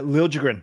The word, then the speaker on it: Liljegren: Yeah, Liljegren.